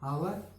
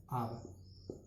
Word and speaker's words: hour: यहाँ पे लिखा है हावर, तो इसे हावर नहीं पढ़ते हैं, इसे पढ़ते हैं आवर, इसे बोलते हैं आवर।